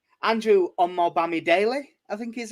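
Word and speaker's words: Omobamidele: if i can get his name right andrew on more bammy daily i think he's how he pronounced it is yes you've nailed that one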